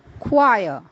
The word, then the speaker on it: choir: of musical instruments together the K sounds is produced in words like chemistry chlorine technology technical psychic or science related words then there are words like choir c-h-o-i-r and chorus c h